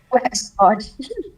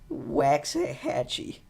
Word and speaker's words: Waxahachie: Waxahachie. Waxahachie. I'm so sorry. How do you pronounce it?